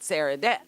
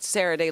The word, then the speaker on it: Sarradet: online they pronounce it Sarradet. But since Richard is originally from New Orleans, they pronounce it Sarraday like the Creole people do.